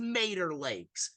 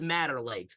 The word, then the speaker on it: Mater Lakes: It is Mater Lakes, because I want you to think, I got told it was Matter Lakes.